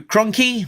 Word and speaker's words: Krahnke: So moving on to the issue at hand, that is brought to us by writer Larry Hama, artist Andrew Krahnke, rhymes with donkey, colorist Francesco Segala, with